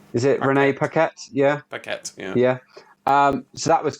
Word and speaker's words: Paquette: I remember it was Renee Young, but how do you pronounce her surname? Is it Renee Paquette? Yeah. Paquette, yeah.